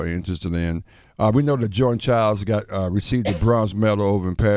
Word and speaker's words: Jordan Chiles: withdraw the bronze medal that was awarded to Jordan Chiles. I think I said it somewhat right. Yeah. Well, you said her name wrong. It's Jordan Chiles.